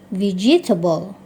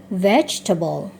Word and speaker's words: vegetable: Berikutnya ini adik-adik SD sering membacanya vegetable, gitu ya. Padahal seharusnya dibaca vegetable.